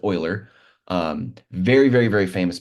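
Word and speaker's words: Euler: know it looks like uler but it's actually his last name is pronounced Oiler um very very very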